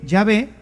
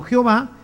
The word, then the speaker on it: Yahvé: llave y por eso Nosotros sabemos que la pronunciación correcta de yahvé es así y ave y no Jehová que simplemente una una literación se fue haciendo